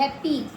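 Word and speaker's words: happy: एच A double P वाई पीछे वाई आ रहा है तो इ की मात्रा आ रही है। हैप्पी अस टी और वाई स्टोरी री है ना सिंपल सा रूल है।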